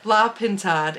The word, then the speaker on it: La Pintade: La Pintade.